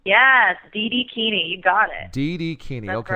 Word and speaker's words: Didikini: And so the website is, how do you pronounce this? It's Dream It, Do It. So it's D-I-D-I-Kini. Didikini? Didikini? Yes, Didikini.